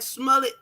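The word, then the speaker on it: Smollett: The same feeling I got when I saw that Smullet rhymes with mullet.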